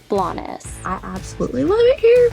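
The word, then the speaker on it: Blanes: little Spain town that us Americans keep mistakenly pronouncing as blaes blaines blaines blaines instead of the proper name blaess I absolutely love it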